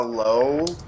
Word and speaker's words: Lao: Dude, everyone in the Lao is so good. The Lao. It's pronounced the low.